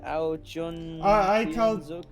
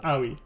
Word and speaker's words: Aoi: I hope I'm not pronouncing your name wrong. Aojun. It's Aoi. I called him Aoi.